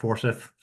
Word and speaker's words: Forsyth: That's a copy of Paul's slide with a poor addition to the bottom that I added, but this is Forsyth. how do you pronounce that?